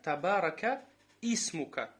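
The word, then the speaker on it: تبارك اسمك: Табарака исмука. Вот, потому что хамзатуль васл посередине идет, ты его сразу ударение на син делаешь.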